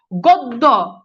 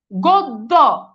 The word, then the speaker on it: গদ্য: গদ্য, গদ্য, তো খেয়াল করে দেখেন এই যে গদ্য, এখানে দেখেন তো এই যে জফলা আছে না নাই? আছে। এখন জফলা থাকলে এই যে উচ্চারণে দেখেন ও চলে আসছে।